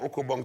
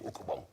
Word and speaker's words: ukabong: This is an ukabong. Me and my cousins would each make an ukabong to play the Nasty family game, ukabong.